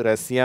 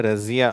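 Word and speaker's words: Russia: அடுத்து ரஷ்யா; ' si' என்ற பகுதி 's-i-a' என்று எழுதப்படுகிறது, ஏனெனில் அதன் உண்மையான உச்சரிப்பு 'Rusa ' என்பதல்ல, 'Rusha' என்பதாகும்.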